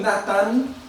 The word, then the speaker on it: Nathan: Nathan, on le prononce en hébreu Nathan, il a donné, Dieu a donné.